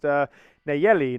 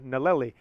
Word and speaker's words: Nayeli: We have a nanny whose actually name has 2 L's in her name, and it's pronounced Nayeli instead of Naleli.